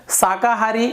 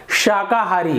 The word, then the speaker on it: शाकाहारी: शाकाहारी, शाकाहारी गलत, शाकाहारी, तो देखिए तालु में आपका जीभ ऊपर टकरा रहा है, आप थोड़ी सी प्रैक्टिस करेंगे, अभ्यास करेंगे, आपको अच्छे से उच्चारण करना आ जाएगा।